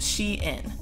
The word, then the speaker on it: SHEIN: So it is pronounced SHEIN.